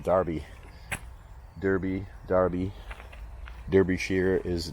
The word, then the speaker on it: Derby: like the town of Derby D RB is pronounced Derby Derby Darby derish sheir is darbishire so you know uh